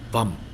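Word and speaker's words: vaṃ: So the seed syllable of Vasudhara is bum. Right? It's pronounced in between a V and a B.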